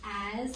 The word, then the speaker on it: as: It is actually the S because it makes a Z sound, and that is not normal.